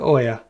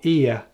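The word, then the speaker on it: Oia: and loading day three off the oil or ear as the locals say oh yeah picturesque Town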